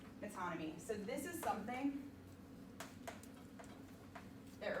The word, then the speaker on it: metonymy: Metonymy. Yeah, you're exactly right. Metonymy.